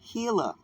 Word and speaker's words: Gila: right let's talk about the Gilla river right the hila river right guys sounds like the